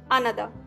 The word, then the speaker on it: another: आर इसमें silent है तो इसे हम नहीं बोलेंगे, इसे हम बोलेंगे अनदर।